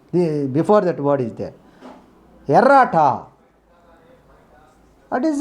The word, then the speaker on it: errata: We should not pronounce double letters, only single letter.